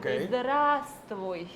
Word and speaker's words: здравствуй: Entonces, lo más fácil sería concentrarse en la vocal y decir здравствуй. ¿Ya ven?